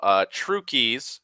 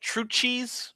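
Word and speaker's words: Trucchi's: Also, Trukey's is spelt like that. It's weird. I don't know why it's like True Cheese, but it's pronounced Trukey's.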